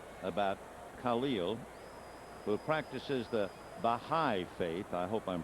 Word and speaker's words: Baha'i: the other night about khalil who practices the baha'i faith i hope i'm pronouncing that properly b-a-h-a-i and i thought maybe